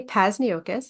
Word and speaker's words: Pasus: my name is pasus it rhymes with Hocus Pocus so if you see